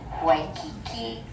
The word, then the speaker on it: Waikiki: If the W's at the beginning of the word, it will be a W sound. So this is wahine and waikiki.